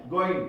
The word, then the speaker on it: going: गोइंग। क्या बोलते हैं? गोइंग। एंड बोलना है, इट्स डजंट मीन कि जी को साउंड देना है, जी को साइलेंट कर दे।